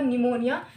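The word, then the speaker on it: pneumonia: piece follow करो फिर P four निमोनिया निमोनिया में पीस साइलेंट होता है लेकिन हम इसमें देखिए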